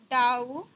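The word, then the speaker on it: doubt: B silent है और डाउट में भी आप देखते हैं बी साइलेंट होता है। ठीक है, जैसे डाउट, तो कभी भी आप देखिए एम के बाद अगर बी हो तो बी को साइलेंट रखें।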